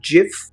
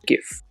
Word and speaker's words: GIF: Is it GIF or is it GIF? I think it's pronounced like the peanut butter, Giphy peanut butter.